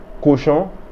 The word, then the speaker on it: cochon: Cochon.